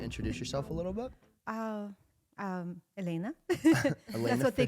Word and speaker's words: Elena: So, but people, when I say Elena, you know, Americans, they're like really trying to please me and say it correctly. So they're, and because they just can't pronounce soft L, they have to, you know, they work so hard on it that they say Iliana. And I'm like, ooh, that's even worse. So please, Elena is good, you know, fine.